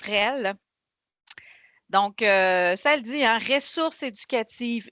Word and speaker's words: REL: les rel c'est quoi ça se prononce réel donc çaelle dit source